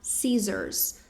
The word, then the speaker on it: scissors: O C ele é silencioso, a gente não pronuncia a letra C, então ficaissors. Ses com som de Z mesmo, tá? Sesors.